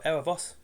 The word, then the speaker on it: Erebus: "Look, that's not Sejanus, that is Erebus, or Erebos, if you want to pronounce it correctly."